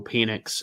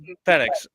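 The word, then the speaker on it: Penix: where it has Michael Pennix in a um, you can say pennix. You don't have to go hard either. Pennix, is that how you pronounce it? Penex.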